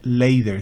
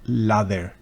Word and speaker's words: lather: la vaya a pronunciar la otra no se dice leider sino lader Qué significa espuma Claro